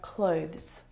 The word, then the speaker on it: clothes: and not clothes either the difficult thing about the pronunciation of this word is the two consonant sounds V and Z together both of those sounds are voiced consonant sounds so the sound is